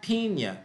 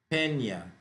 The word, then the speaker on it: Peña: It's not piña, it's peña. Like ya, inya, inya. You have to do that in order for it to go right.